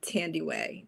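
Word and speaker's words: Thandiwe: It's um she used to pronounce it that way, but um Tandy She pronounces it uh Tandy Way Newton.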